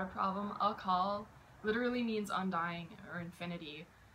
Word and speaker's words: Akaal: The first syllable is short, and then call is very long.